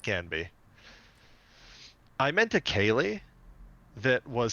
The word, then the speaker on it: Ceilidh: And I was Oh, like, Caliday? And they were like, like Kaylee.